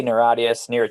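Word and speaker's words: Niratias: on the ninth album naratius neretias am i pronouncing that right it's a made-up word you can say it any way you like we say we say narratives okay yeah hey i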